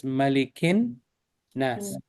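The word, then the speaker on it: مَلِكِ النَّاسِ: Here, for example, Malikin Nas is actually is pronounced like this, Malikin Nas. It's Yes. two noons.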